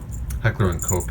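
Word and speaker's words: Heckler & Koch: the g36 heckler on cook heckler and coke is the american pronunciation the german pronunciation i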